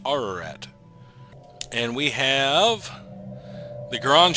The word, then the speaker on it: Ararat: it is Mount uh Ararat is the way most English speakers will call it uh it's a mountain in Turkey but according to Middle Eastern pronunciation I think it should be pronounced Ararat and we have the